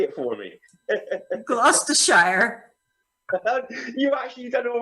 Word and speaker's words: Gloucestershire: funny you want to say it for me glass to shire you've actually done all right that's the show